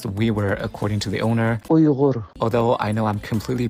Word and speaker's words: Uyghur: The WeWorks are recognized as native to the Xinjiang WeWork Autonomous Region in northwest China and are one of China's 55 ethnic minorities. And yes, it's pronounced WeWork, according to the owner. Uyghur.